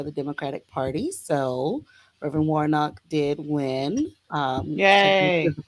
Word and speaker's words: Warnock: was like um we're voting for war knock Warner I think he was saying it wrong at first I was like his name was Warnock he's Warhawk like who